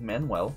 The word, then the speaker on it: Manual: it's manual rain but it's pronounced like manuel because i went to